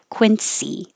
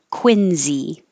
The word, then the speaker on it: Quincy: country would call it quincy with a s but in boston it's pronounced with a z quincy i don't know why